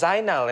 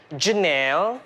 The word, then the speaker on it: Zainal: or us i go my name is zynal and they're like janelle no no or the worst